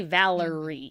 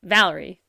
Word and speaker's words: Valerie: the time Valerie right you don't say Valerie you say Valerie Valerie you know there's not really a third syllable in there I had a feeling